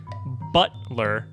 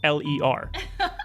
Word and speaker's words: Butler: Betrayus, and his sidekicks, Butler, and his twin brother, Dr. Buttocks. Why did you pronounce butt that way? Canonically, his name is Butt-Ler. Ah, Butler. Yes.